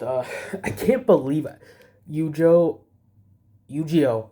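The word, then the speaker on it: Eugeo: Yuiio. Yuiio. That's how they say it.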